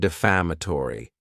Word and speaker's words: defamatory: Next is the word defamatory, and this word has 5 syllables, and the stress is on that second syllable, Defamatory.